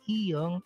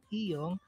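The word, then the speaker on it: 이응: lagyan ng consonant na iyong para maging syllable po yung mga vowel na iyon. It doesn't affect the sound value of the vowel because iyong is silent when it is placed before the vowel.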